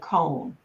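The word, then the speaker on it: Cohn: and there's documentaries on Roy K Roy con and his name is spelled last name is c o h n first yeah he he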